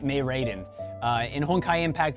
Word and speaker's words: Mei Raiden: it's it's well i just said it right mae raiden uh in hong kai impact there are two